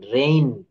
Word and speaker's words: reign: আচ্ছা, তারপরে কি আছে দেখেন, রুল 5, ওয়ার্ডের শেষে জি এন থাকলে, জি এবং এন থাকলে তার উচ্চারণ আইন হয়। আইন, দেখেন আ ইন, জি এন, এক্ষেত্রে জি অনুচ্চারিত থাকে, যেমন DESIGN, এই যে বলেছি আইন হবে ডিজাইন। RESIGN, রিজাইন। REIGN, রেইন, দেখেন এই যে রেইন মানে হচ্ছে রাজত্ব।